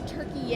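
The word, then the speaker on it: Türkiye: year it's a really interesting Turkish cubby actually turkey is how it's pronounced now um and they do not refer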